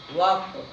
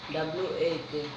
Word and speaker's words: walk: WAK। WAK नहीं होता, W नहीं बोला जाता है, WALK, जिसमें L जो होता है साइलेंट होता है। क्या होता है? L साइलेंट होता है, मतलब L को हम